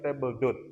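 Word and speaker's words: table d'hôte: Kemudian ada yang kedua adalah table dot dibacanya table dot ya.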